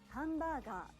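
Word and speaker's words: ハンバーガー: english it means computer what about hambaga this hamburger these words were imported into japanese so while their pronunciation is close to the original english word you need to learn how to pronounce them correctly in japanese or you won't be understood you don't say hamburger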